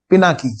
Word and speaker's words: Pinaki: I am a boy my name is pinaki sorry sorry beta not pinky I'm sorry I yes